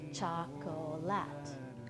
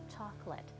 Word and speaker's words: chocolate: If you look at the word chocolate, you might think we should say it chocolate. But in fact, in Canada, nobody does. We all say chocolate, as if there are only 2 syllables and not the 3 that it looks like.